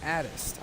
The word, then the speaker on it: Adexptt: You spell his name all lowercase, Adexptt, but you say his name is Addist. I know, weird.